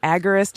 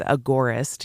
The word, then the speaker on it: agorist: some people say it agarist and it sounds like AG g e r i but it's Agora like the Agora the market you know it's agorist yeah thank you for